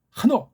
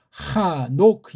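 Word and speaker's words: חנוך: 한옥 이게 거의 뭐 이게 헤이트랑 눈이 한 자음처럼 그렇게 빨랑 내줘야 되는 거예요. 이게 아짝 그래서 한옥 그렇게 발음해야 이게 걔네들이 의도한 것에 맞는데 이걸 하노크 이렇게 읽으면 얘기가 안 되는.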